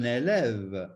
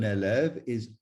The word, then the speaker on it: élève: to complete the picture, un élève ends with an E, but because it is at the end of the word and it has no accent, it is silent. Un élève, un élève.